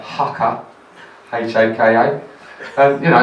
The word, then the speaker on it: Haka: a team called FC, I'll say it right, Haka, H-A-K-A.